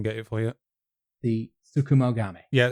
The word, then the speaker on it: Tsukumogami: now, so I didn't want to try and pronounce it again. Give me 1 second. I can get it for you. The Tsukumogami. Yeah, Tsukumogami.